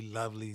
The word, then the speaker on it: LoViLi: it meant to be lovely today. Lovely stands for Low Vision Living. It's an acronym using the first two letters of each of those words, and it's spelled LoViLi.